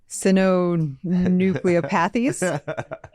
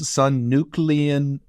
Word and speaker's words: synucleinopathies: Synucleopathies? It's synucleinopathies.